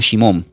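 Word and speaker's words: שמעון: Esta palabra es un nombre hebreo, se pronuncia como Shimom. S h i m o n.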